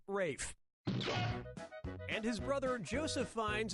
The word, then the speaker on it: Ralph: Fiennes has to throw up were you thinking of this one yep ray Fiennes first name is spelled like Ralph but pronounced Rafe and his brother Joseph Fiennes is pronounced Joseph but it's spelled le ssf a.m.